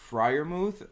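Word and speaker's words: Freiermuth: This guy, Pat Friarmuth, I mispronounce his name every single time. You got it. According to Alex, yes, I got it.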